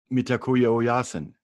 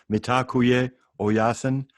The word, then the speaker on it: Mitakuye Oyasin: The Lakota from the Midwest, they say Mitakuye Oyasin, pronounced different ways. Mitakuye Oyasin. Some people say it differently depending on where you live.